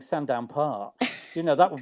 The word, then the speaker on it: Sandown: a lot of work saying that second syllable Sandown you know to actually go from one syllable to two to say sand down I mean that's quite